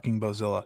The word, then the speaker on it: Bozilla: you get Billa like say it correctly it's the bozilla she says so yeah um you